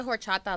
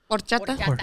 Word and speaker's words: horchata: I know y'all don't say the H. Horchata?